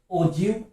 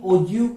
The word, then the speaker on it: ogive: O-G-I-V-E. Ogive. The spelling is like O-G-I-V-E. Ogive. But we have to pronounce like O-J-E-E-V. Ogive. So that's why I am calling this one as ogive curve, not ogive.